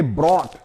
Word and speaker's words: brought: यहाँ हमने प्लाऊ को देखा, ये GH यहाँ भी साइलेंट होता है, अर्थात इसका प्रोनाउंसिएशन नहीं होता, इसको उच्चारित नहीं करते। इसी प्रकार से ब्रॉट BROUGHT, ब्रॉट यानी लाया, ये ब्रिंग का पास्ट